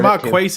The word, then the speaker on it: Marcus: Marcus Yeah, I mispronounced it. I heard It's it Marquise, isn't it? No, it's Marcus.